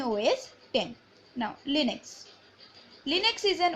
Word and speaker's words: OS X: All of the recent version are known as OS X, pronounced OS 10.